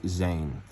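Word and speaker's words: זין: they are called weapon which in hebrew is pronounced zane and you are like the letter noon which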